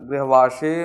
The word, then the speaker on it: गृह: ग्रह और गृह में बहुत अंतर है, तो इस चीज़ का ध्यान रखें।